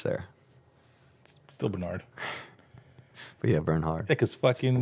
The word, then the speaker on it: Bernhard: pronounce your last name Bernhard Bern hard burn hard like burn hard like burn hard all right Bernhard how do you pronounce it I've got I got Bernard my whole life Bernard